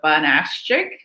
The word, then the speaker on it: Fanashik: My name is Miss Fanashik, and in case you're a little intimidated, it's phonetically spelled there, so Fanashik.